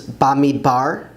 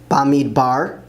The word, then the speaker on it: במדבר: Numbers is Bamidbar, Bamidbar, in the desert.